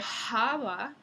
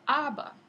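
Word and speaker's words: haba: no es sino ilo esa H no se pronuncia aunque se sigue escribiendo en la lengua escrita se sigue usando la H pero no se no se pronuncia en el Castellano moderno entonces en lugar de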